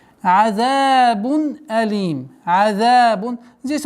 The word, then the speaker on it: عذاب: И нужно обращать внимание, чтобы полноценная огласовка кесра под мимом произносилась. Азабун алим.